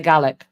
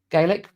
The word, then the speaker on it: Gaelic: Did I say Gaik? Gaelic.